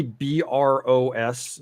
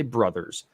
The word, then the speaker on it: Bros: When you see BROS, so some people pronounce it bros and some people say brothers.